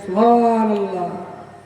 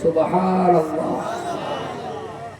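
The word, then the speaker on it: سبحان الله: আর যদি উচ্চারণ ঠিক করে করতে পারেন সুবহানাল্লাহ, তাহলে সওয়াব হবে। আর যদি ঠেলে দেন সুবহানাল্লাহ, গোনা বেশি হবে।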